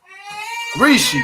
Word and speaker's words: Rishi: let me see how you say his name Rishi there you go that's his name Rishi so